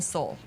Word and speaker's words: Seoul: How do you pronounce that? Seoul.